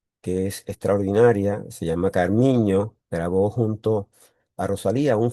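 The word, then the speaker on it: Carminho: Carmiño, que la ñ en portugués se escribe NH, Carmiño.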